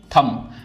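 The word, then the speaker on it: thumb: ऐसे ही थंब। तो थंब में सिर्फ हम इतना पढ़ते हैं। बी यहां पे साइलेंट है।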